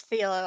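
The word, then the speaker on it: Filho: Legendary master Francisco Philho. Is that how you say it? Is it Philho? Oh. I think it's Philo. I think it's Philo. It's Philo.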